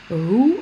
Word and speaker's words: who: va aborder le blues comme dans who on ne prononce pas le w deux exemples des six